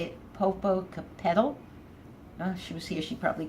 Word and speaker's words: Popocatépetl: She told me how to say it, Popocatépetl. She was here, she'd probably correct me. Popocatépetl.